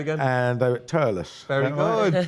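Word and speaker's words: Thurles: Turles. Pronounce it T-U-R-L-I-S. Turles. Right. Okay. We don't do our THs.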